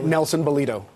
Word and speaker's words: Nelson Balido: Nelson Balido.